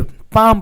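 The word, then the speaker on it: palm: इसको पढ़ेंगे बाम देखिए पाम पढ़ेंगे देखिए पाम है तो प प्स ए ् ए ् ए तो एल साइलेंट है दोस्तों तो इसका साउंड हम लोग को नहीं लेना है तो प का क्या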